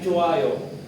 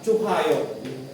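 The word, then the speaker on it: 좋아요: No silent H po siya ' ba nasa pronunciation rsin yan yung chutta naging chuayo yung notta naging nuayo. Hindi po siya chuhayo.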